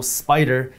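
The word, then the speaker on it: SPDR: By the way, just so you know, Spider is spelled S-P-D-R.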